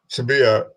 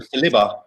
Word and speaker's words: Saliba: be so much in a rush to resign Sabia. How do you say his name? Tobias. No, the Danny. William Sabia. Danny Tobias. We'll just go with Danny. Danny C. William Saliba.